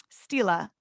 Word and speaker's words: stela: Another thing about this time that's notable archaeologically is the Merneptah stela. I for sure had to ask how to pronounce that last word. I was saying stele, but it's stela.